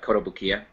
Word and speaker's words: Kotobukiya: so uh koto boo how do you say it sean i think i usually just call it kodo but kotobukiya kotobukiya thank you yeah yeah that's that's